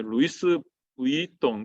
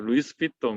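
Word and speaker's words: Louis Vuitton: 루이스 부이통 이렇게 읽으니까 와이프가 그렇게 읽으면 안 돼요. 루이스 비통 이렇게 읽으라더라고요.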